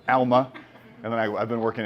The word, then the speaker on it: Alma: The urge to pronounce it Alma is overwhelming, but Alma.